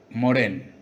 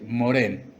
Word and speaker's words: Morhain: de historietas Jorge Claudio Moraín. Así que le pedí, como en todas las entrevistas, que se presentara con sus palabras, sus propias palabras, y me dice: soy Jorge Claudio Morén, o sea, pronúnciese Morén.